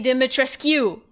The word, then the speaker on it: Dimitrescu: Lady Dimitrescu. They say her name wrong. They say it weird in French. It is, Romanian. Lady Dimitrescu.